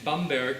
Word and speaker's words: Bamberg: at and I was born in Bamberg who used the proper German pronunciation a beautiful city in